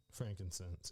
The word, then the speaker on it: frankincense: Is it Frank E-N or I-N? I think it's E-N. But then I think it's spelled like C-E-N-S-E. There you go. Frankincense. It's I-N.